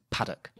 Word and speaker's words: Park: makes the point that the surname Park is locally rendered as paddock anyway back to the